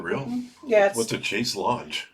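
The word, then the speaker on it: chaise longue: Yeah, What's a chase lounge? It's chase lounge, but that's how you're supposed to pronounce it.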